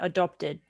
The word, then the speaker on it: adopted: Okay, make sure you pronounce the ted at the end. Adopted.